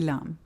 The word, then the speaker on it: LAM: He named his bakery LAM. In Arabic, that's the letter LAM, L. A beginning. In French, LAM, is that how it's Lamb. pronounced?